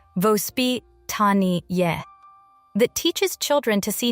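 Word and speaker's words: воспитание: A parenting philosophy called vospitany, pronounced vospit tani that teaches children to see nature not as a special event but as normal life.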